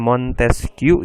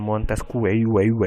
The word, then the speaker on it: Montesquieu: Jadi kalau Montesquieu dibacanya Montesquieu ya. Montesquieu. Bukan Montesquieu, bukan.